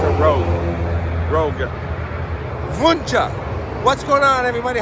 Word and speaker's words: Wunsche: Wunsche is how you pronounce it in German.